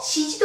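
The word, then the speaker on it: 七時: 용지도 아니고 시지도 아니에요. 요지예요. 7시는 그렇습니다. 시지라고 합니다. 나나지라고 쓰는 사람도 간혹 보이고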